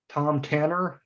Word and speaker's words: Thom Tanner: we get get going tom tanner not nothing fancy about the pronunciation right and uh are